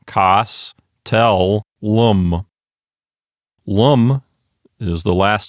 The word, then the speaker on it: castellum: Well, let's take a look at the penult and see if it's a long syllable or a short syllable. The penult is T-E-L. Let's ask ourselves a couple of questions. First of all, does that syllable contain a long vowel? No, the E is short. There's no macron over it. Is it a closed syllable? Aha, yes, that particular syllable is closed.